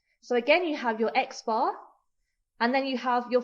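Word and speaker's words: x̄: So the X with the little bar across signifies the mean, and we pronounce this as X bar.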